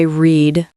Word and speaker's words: read: Today I read a book. But for the past, yesterday I read a book. It sounds like the color red.